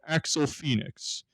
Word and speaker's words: Axl Phnxx: me uh two local artists katrina kane and axel phoenix axel did i pronounce that right yes sir yes you did